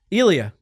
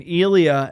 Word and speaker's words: Elia: Elia. Is that how you pronounce it? I say, but it's just You know what's funny? he elongates it. He It's just easier.